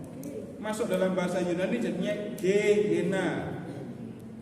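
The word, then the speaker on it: Gehenna: dalam bahasa Yunani jadinya ge Hena dalam bahasa Latin gehena jadi jehena tulisannya sama bacanya beda diambil sama orang Arab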